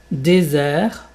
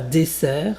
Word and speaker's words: désert: Déser et pas desser. Dés un Z. Donc, tu peux mettre à la place du S un Z.